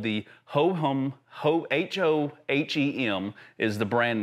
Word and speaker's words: Hohem: But my camera is mounted to a gimbal and it's called the Hohem, H-O-H-E-M is the brand name. Hohem, I think is how you pronounce it.